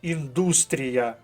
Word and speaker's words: індустрія: ось друге слово важке слово індустрія наголос на другому складі Хто не знав запишіть